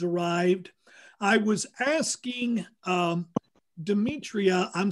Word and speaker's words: Demetria: i was asking um demetria i'm spelling it d-e-m-e-t-r-i-a am i pronouncing your name properly yes that's correct all right all right